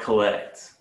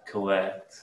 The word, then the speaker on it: collect: it publicly the word collect you want to emphasize the last syllable collect yeah college and the